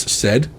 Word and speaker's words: Said: Boris Said. Yes. So his name was Boris. His last name was Saad, but he pronounced it Said.